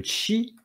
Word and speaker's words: qi: vous allez avoir l'énergie qu'on appelle le chi alors ça s'écrit QI mais ça se prononce Chi et vous avez le